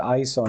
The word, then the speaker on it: ISO: from it really was I just call it ISO instead of iso right and I don't think it matters if you say ISO or ISO I just say ISO because it's two syllables instead of three just shorter and easier and Peter hello why